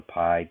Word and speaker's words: pi: you pronounce it is pi you you pronounce it just like the uh dessert that we most of us like but it's actually a